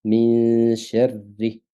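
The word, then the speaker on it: من شر: la première lettre et ça se prononce ainsi: min sharri.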